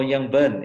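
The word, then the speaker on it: Longyearbyen: in January to long yeah how do you pronounce it hello young Burnham yeah the people from there to be going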